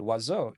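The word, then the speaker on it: oiseau: French is wo and wazo is not spelled how it sounds to us in English of course but in French it's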